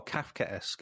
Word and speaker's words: Kafkaesque: Kafkaesque. Oh, Kafkaesque is how you pronounce it. Kafkaesque.